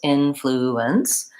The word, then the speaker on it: influence: topic of syllable stress so influence has three syllables influence and in American English we